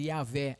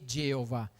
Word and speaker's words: Yahweh: è più facile dire Yahweh anziché Geova, perché Yahweh è molto più vicino a quello che è, perché se è una Y non posso mettere una J, è un'altra lettera completamente.